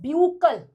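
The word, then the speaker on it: buccal: ब्यूकल कुछ बच्चे कह देते हैं बक्कल cavity. It इज नॉट बक्कल cavity. हम इसको कैसे प्रोनाउंस करेंगे? इट is known as ब्यूकल cavity.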